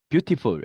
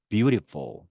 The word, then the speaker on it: beautiful: 자, 그래서 우리가 알고 있는 beautiful, beautiful 이런 거죠. 그렇죠? beautiful 하지 마시고요. beautiful. 자, 이런 느낌입니다.